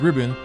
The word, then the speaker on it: 日本: In modern Chinese, Nihon. is pronounced ribbon.